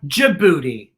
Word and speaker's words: Djibouti: huh how about d d is for djibouti the j sound with the